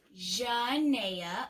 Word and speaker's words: Janaea: My name is Janaea, and you say it like this: Janaea, like Zsa Zsa Gabor.